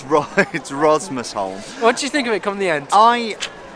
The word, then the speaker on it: Rosmersholm: You do get used to how it's pronounced, but it's Rosmersholm.